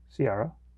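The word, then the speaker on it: Ciara: it says oh how do you say that sierra it's in sierra s-i-e no no um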